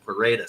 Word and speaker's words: Pereira: was from Brazil and they always pronounce it Pera so I'm just gonna go with that it's not it's just not something you could possibly script right I mean it's you got Alex pereda he's comfortably in the